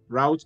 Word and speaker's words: route: you pronounce it if if you've been watching yes root route root rout would you say loot I say root so the route of